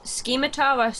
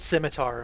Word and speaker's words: scimitar: Do you pronounce it scimitar or scimitar? How do you pronounce it? I pronounce it scimitar. I think the C's silent. Right.